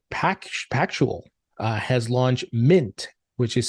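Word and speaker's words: Mynt: in brazil btg pack actual uh has launched mint which is spelled m-y-n-t a new exchange for bitcoin and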